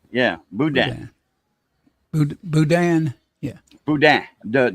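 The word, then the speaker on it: boudin: a day it's called Budan sausage Budan yeah Budan Budan yeah Budan the the end is silent oh bu budah bud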